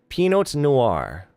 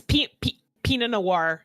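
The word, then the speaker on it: pinot noir: They open a bottle of penote noir. I think that's how you say it. Pino P I N O T. It's Pina Noir.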